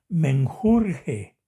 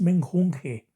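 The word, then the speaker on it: menjunje: Es que fíjense que yo he escuchado a muchísimas personas decir la palabra me enjurge. En lugar de n le ponen otra rí. Entonces, si la dejamos mal escrita, dice menjurge. Pero no es así. La palabra es menjunge con n, o sea, la vamos a deletrear.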